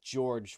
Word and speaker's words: Georg: well, it's George, which is it in Japanese like syllables. It's Giorgio or Official Giorgio. English is Georg. Viz and Where does it say Funimation that? agreed Oh, it on does. Oh, what? Georg. Official Georg. English.